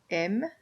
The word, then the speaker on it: aimes: This word right here is pronounced M, and so is this one, M. So you never hear this S being pronounced.